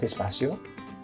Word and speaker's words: despacio: In Spain, it's pronounced a bit differently. Despacio. Despacio. And this is one of the ways that Spanish from Spain or from Latin America differ slightly.